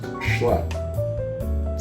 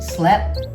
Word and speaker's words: schlep: Oh, by the way, it's pronounced schlep. Slept? That's what I said. Say shh. Shh. Now say lep.